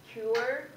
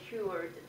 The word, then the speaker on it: cured: pronounce it right I I said cure I should say cured they homesick and I